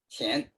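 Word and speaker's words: 乾: acuerdo cómo se pronuncia, Shen, could be the pronunciation of that? qian. Shen, que, Yeah. okay. Qian.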